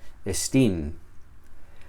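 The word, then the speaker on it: ἐστίν: Esta palabra estin normalmente llevaría el acento aquí, estin. Pero si te fijas, aquí no lleva acento. Y es porque se pronuncia juntamente con la palabra que precede.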